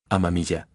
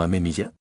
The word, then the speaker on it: Amamiya: Amamilla no amemilla.